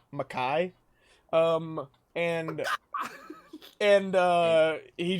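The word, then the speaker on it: Mekhi: any respect and it's it's spelled m-e-k-h-i makai um and and uh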